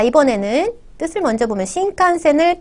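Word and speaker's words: 新幹線: 우리는 신칸센 이렇게 세 박자로 세 음절로 얘기할 수 있지만 일본 친구들한테 신칸센 이렇게 하면 잘 못 알아들을 것 같아요. 6음절이나 되거든요. 6개의 박자를 끄셔야 되죠. 그래서 신칸센 이렇게 미는 듯이 발음하셔야겠죠.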